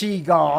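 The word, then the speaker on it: Shego: she come on it's sheo I never W now I have I didn't watch him possible a lot when I was a kid but even I know that the name is pronounced sheo okay you should definitely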